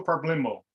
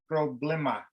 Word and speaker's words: problema: So you always hear people say no problemo. Wrong. It's a. El problema.